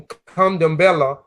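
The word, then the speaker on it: Candomblé: Pronunciation Kandambela, dance in honor of the gods.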